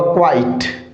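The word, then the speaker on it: quite: और इसका उच्चारण होगा क्वाइट।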